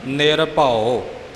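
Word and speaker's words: ਨਿਰਭਉ: सत नाम करता पुरख निर्भर वैर अकाल मूरत अजुनी सभ गुर प्रसाद निभ कई साडे वीर भैना निर् भो बोल जाे ने निर् भो य नहीं बोलना उड़े दे अकड़ द उच्चारण निर भव इ तो पहला करता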